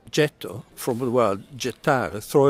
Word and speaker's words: Getto: The island was called Getto, from the word gettare, throw away in Italian. And when the Germans arrived here in 1528, because they couldn't pronounce the soft G of Getto, they called it Ghetto.